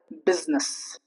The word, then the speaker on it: business: Next up is I in unstressed syllables. For example, business. Not business. It's business. This is business. We do not say this is business. There's a difference.